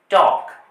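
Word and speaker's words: talk: এল কে আছে এখানে টি এল কে এলটির উচ্চারণ হবে না বলতে হবে টক টক আবার এ এল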